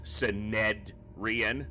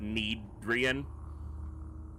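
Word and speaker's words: Synedrion: But as Synedrian is a Greek word, I looked up the proper pronunciations, including in the original Greek, as far as can be, conveyed, and it is Synedrian, not Needrian.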